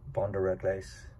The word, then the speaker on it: Brin de Réglisse: check this fragrance out brenda riglise or as the french pronounce it van der redlace and it's not a